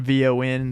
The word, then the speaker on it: Vaughn: get help from everybody it's Vaughn Von they don't spell it correctly oh wow you know